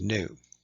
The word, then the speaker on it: nu: And so we use the Greek letter nu, pronounced nu. It looks like a V in our alphabet, but it's called nu.